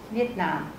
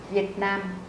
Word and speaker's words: Vietnam: Viet Nam Viet Nam các bạn để ý trên các tên nước mình đã đánh dấu trọng âm ở đây chúng ta sẽ không đọc là Việt Nam như là tiếng Việt Nam mà chúng ta sẽ đọc là Vietnam Vietnam is comm house